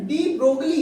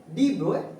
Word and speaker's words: de Broglie: तो student डी ब्रोगली English में इसकी प्रोनाउंसिएशन है ब्रोगली, but French this is an French word. तो फ्रेंच वर्ड है तो इसका करेक्ट प्रोनाउंसिएशन है क्या? डी ब्रोए hypothesis.